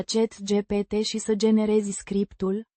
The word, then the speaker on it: Scriptul: Pronounced Scriptul. with the accent on the first syllable.